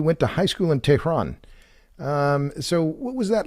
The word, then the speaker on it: Tehran: In fact, you're one of the few people I've come across that says it right, Tehran. Most people say Tehran or Iran. So you've learned how to pronounce it correctly.